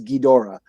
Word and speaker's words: Ghidorah: ghidra or ghidorah you know which it was ghidra all my life until like three years ago when i guess the correct pronunciation is ghidorah um so that that plot is from an